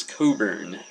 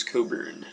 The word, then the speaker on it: Cockburn: i'd pick it up it's spelled bruce cockburn but right here it says pronounce coburn so we'll say bruce coburn and that that is